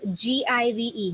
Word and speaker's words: give: to pronounce it so the word g-i-v-e give right give the V actually has a buzz oh yeah we have a tendency of saying you we make it a w but it's a v